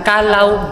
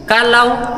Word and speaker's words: Callao: and yung cave natin May tatlong pronunciation din po Kalaw kalo and kal So yung Kalaw Yun po yung ibon sa English is hornbill and kalo isa po siyang Spanish word which means peaceful place and Yun po yung